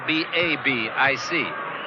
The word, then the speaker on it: Babic: CH, but it's spelled B-A-B-I-C. Babic.